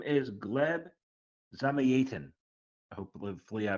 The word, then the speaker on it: Gleb: founder of Masters of universe his name is gleb hopefully I pronounced that correctly uh gleb welcome to the show uh yeah I know